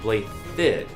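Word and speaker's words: Blaiddyd: too convenient this pronounced blade did with a th sound and his weapon or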